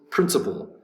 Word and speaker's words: principle: number 17 principle principle principle is three syllables principle has the accent over the first syllable principle principle's a noun